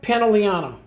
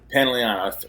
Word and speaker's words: Pantoliano: Joe Pantoliano. Pantoliano.